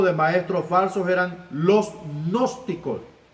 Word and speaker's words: gnóstico: Un grupo de maestros falsos eran los gnósticos. Se pronuncia gnóstico, ¿va?